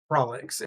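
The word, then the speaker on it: Prolix: Prolocks. How do you pronounce name? Work that. Prollex.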